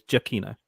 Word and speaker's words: Giacchino: rough so real quick is it giacchino or giacino you don't say that you don't do two syllables on Gia it's jokino Michael Jackson okay and